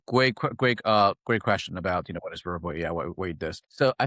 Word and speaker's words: Vurbo: Vurbo. Vurbo.